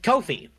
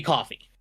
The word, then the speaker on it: Ko-fi: As options, there is Subscribestar and there is Ko-fi or Coffee. I don't know the exact pronunciation of that. It's supposed to be Coffee.